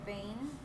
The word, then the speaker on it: vein: So let me write the word vein. The EI makes the long A sound, vein.